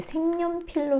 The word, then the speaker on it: 색연필: 발음할 때 색연필로 소리 나죠? 예, 니은이 첨가돼요. 색에 연필, 니은이 첨가되어서 이렇게 되고요. 자, 이것이 또 발음될 때는요. 색의 발음이 이 영국의 음이 니은의 영향을 받아서 비음인 이응으로 바뀌고 색연필 이렇게 발음됩니다.